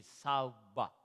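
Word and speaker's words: שובע: Abondance se dit en hébreu, la prononciation c'est saouba.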